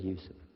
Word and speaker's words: Yusuf: is youssef do you say youssef you said yusuf you're very good i wish you'd teach my wife she keeps mispronouncing it she calls me useless now